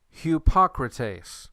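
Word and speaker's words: ὑποκριτής: are at some point hupocrates hippocrates this is the word for a hypocrite hupocrates is that rough or smooth hupocrates that one is rough okay we've got three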